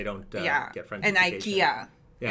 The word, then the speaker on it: IKEA: never knew that about ikea ikea yeah in japan it's all ikea everyone says it right yeah because we took it from swedish people like we tend